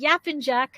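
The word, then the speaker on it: Yapıncak: We have Andrea Lemieux, who is going to be talking about, if I say it correctly, Yapincak on Winephabet Street, right?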